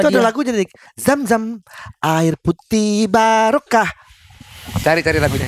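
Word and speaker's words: Zamzam: bacanya bukan jam-jam, zam. Nah itu. itu Beda. dia. Kalau Jam jam sama kan ke jam tangan. Iya, bisa juga lompat-lompat jam-jam. Jam. Oh iya betul. Iya. Yang ngasih zam-zam banyak, yang ngasih kurma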